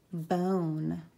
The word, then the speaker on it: bone: is but oh mmm bone you have it e makes the Oh Sato bone like a dog bone this one and the silent E is gonna make that o say oh says mmm Oh note